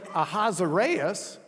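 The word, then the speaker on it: Ahasuerus: least uh reading so we'll read in the hebrew achashvirus the ah sound means we're borrowing a foreign word so khavaroosh is the way they were pronouncing the sasha and then we get it into english and the english translators say ahazareas which isn't even close to the hebrew akash verus which isn't all that close to the yashra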